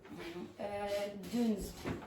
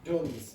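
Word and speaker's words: Dunnes: yeah, now just to clarify, if you pronounce it in a French way, it sounds more sophisticated than it really is. So the pronunciation is duns. Now, if you say dunes, it sounds much more sophisticated.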